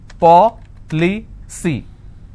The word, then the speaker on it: policy: with cy for example policy how many syllables three paw li c now here the rule says i need to stress on the third from right which means i will stress on paul i just bought an